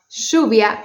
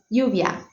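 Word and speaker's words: lluvia: me you can uh learn how to pronounce words with a Argentinian accent like uh like for instance uh shuvia rain or having a more neutral accent like yubia instead of shuia.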